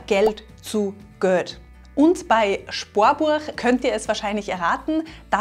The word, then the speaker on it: Spoarbuach: Bei Sparen wird aus dem A in Sparen ein Ohr, Spor. Und bei Buch wird aus dem U in Buch ein Uhr, Burg. Das Sparbuch wird also zum Sparbuch.